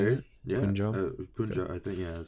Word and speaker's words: Punjab: Yeah, Punjab.